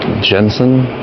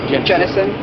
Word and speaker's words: Jenison: It's Jenison? Or Jenison. Jenison. I always pronouncing it Jenison.